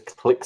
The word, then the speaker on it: Klyxil: so his name is click so fix finger so kind of clicks like clicking a button and then ill like you know someone